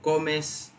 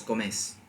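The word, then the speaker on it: comés: It's not tu comes, it's vos comes, right?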